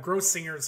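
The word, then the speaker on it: Grossinger's: organize a communist party uh so the correct pronunciation of the hotel he worked at was gross singers hotel okay in the in the Catskills and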